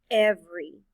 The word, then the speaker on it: every: The first E stands for the short E sound. Eh. The second E is silent. The letter Y stands for the long E sound.